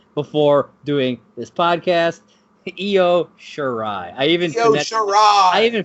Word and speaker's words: Shirai: Io Shirai. I even phonetically spelled it out in my notes so that I would say it correctly.